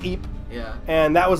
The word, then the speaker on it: Ypres: kind of major battle, like the Battle of Ypres, which is YPERS. Okay. The British soldiers called it the Battle of Wipers. Wipers. They didn't know how to pronounce the shit. Okay. But it's pronounced Ypres.